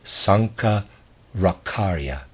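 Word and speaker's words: Sankaracharya: Century A.D Sankar akarya I'm going to spell his name s-a-n-k-a-r-a-c-h-a-r-y-a I'm gonna pronounce that Sanka rakharya we will pay less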